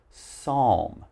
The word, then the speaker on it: psalm: you should pronounce it psalm remember we have a silent p so just pronounce the s now actually for the